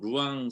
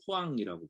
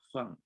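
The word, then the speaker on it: Rouen: 하나는 모네라고 하는 사람이 그린 후안 성당, 프랑스에 있는 이제 우리말로는 루앙 성당이라고 번역돼 있는데, 프랑스 발음을 후앙이라고 부르는데요. 후앙. 이게 막 목소리가 나는 후앙 뭐 이런 소리가 나는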